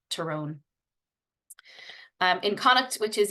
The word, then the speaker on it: Tyrone: for mana manahan and terone not Tyrone terrone um in kuk which